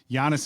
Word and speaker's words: Giannis: actually I'm GNA go Giannis Giannis is correct the alphabet is Giannis on tento I've never heard him called that before I just recently learned how to say his name properly um and that's why